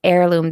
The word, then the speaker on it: heirloom: I just went outside to go, turn off the lights, and it's heirloom. There you go. That's what Grace says. It's where like the H is silent, you know?